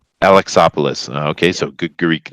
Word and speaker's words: Alexopoulos: It's pronounced Alexopoulos. Alexopoulos.